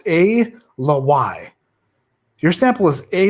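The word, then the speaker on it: Ala Wai: y a l a space w a i pronounced a le y your sample is a l y batch 14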